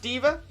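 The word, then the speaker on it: D.Va: at the minute uh and yes pronounced diva she's actually a super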